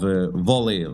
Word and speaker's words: Vahl: pronounce the name of Vole. Like they call it Vahl, but it's not Vahl, it's Vole.